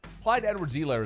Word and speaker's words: Clyde Edwards-Helaire: That's what I used to do when I called and plus, Clyde Edwards-Helaire is a mouthful.